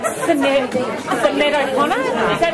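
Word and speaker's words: Sinéad: You look like Sinead O'Connor. Is that how you pronounce it? Sinead.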